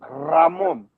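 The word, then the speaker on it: Ramón: Ramon. Yeah. You're dragging the R like we do. There you go. Ramon. Dragging the letter R.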